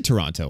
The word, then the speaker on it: Toronto: I'm not saying, "Hello, Toronto." No, definitely not ToRAWnto. But I say Toronto a lot. I pronounce the T-O at the end.